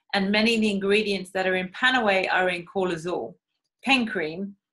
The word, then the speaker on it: PanAway: Panaway is, I always say to people, if you think of Panaway, think of how it's said Panaway. So it's more like kind of pain away, right?